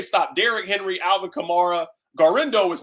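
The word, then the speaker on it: Guerendo: How do you pronounce the gentleman's last name? Garendo? Yeah, Garendo. Yeah, okay.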